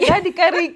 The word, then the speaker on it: Radikariki: Radikariki, yes.